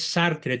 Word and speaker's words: Sartre: Paul sartre sartre y se pronuncia sartr porque el francés se come la e final sí Entonces corrígelo por